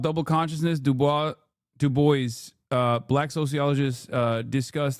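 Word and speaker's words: Du Bois: No, it's not Dubois. It's Dubois. W-E-B Dubois. That's the correct way to say it.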